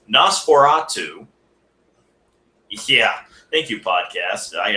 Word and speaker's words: NOS4A2: His novel, NOS4A2, or as it's actually supposed to be pronounced, Nosferatu.